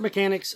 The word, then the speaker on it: Mechanix: So Spirit Mechanics, they are coming, and if you want to find out more about them, their Facebook page, it's spelled MECHANIX, MECHANIX, Spirit Mechanics.